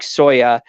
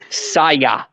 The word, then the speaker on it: Saya: ahead while somebody like soya is staying in this present that's how you say her name no I'm sorry how do you say her name say yes Saya but anyway yeah set